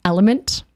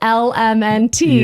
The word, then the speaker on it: LMNT: So I'm pretty sure it's actually pronounced element.